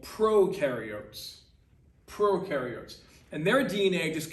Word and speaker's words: prokaryote: is that whole eukaryote prokaryote uh definition okay u rhymes with dew they do have a nucleus that's this blue thing okay pro rhymes with no this is how you're